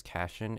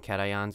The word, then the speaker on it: cation: that doesn't work because I like to pronounce them in my head as Cashin and an Yin it sounds cooler and sillier it also sounds a lot stupider and it's wrong call them cations or anions not Cashion's are anyons ionic